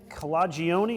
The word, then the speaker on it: Calagione: Sam Calagione, is that how I pronounce it? Calagione, yeah.